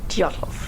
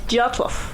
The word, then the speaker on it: Dyatlov: Dyatlov. One more time. Say it again one more time. Dyatlov.